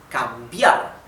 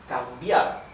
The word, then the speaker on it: cambiar: Cambiar. As you can see, the stress is in the letter A, right? Letter A. Cambiar.